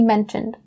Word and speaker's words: mention: So mention and mention, the CH sound, guys. So not the sh sound. Don't say mention. Don't say mentioned.